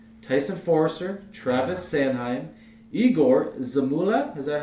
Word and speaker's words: Zamula: Tyson Forrester, Travis Sanheim, Igor Zamula, is that how you say it?